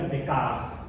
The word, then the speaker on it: Descartes: En francés se pronuncia Descartes.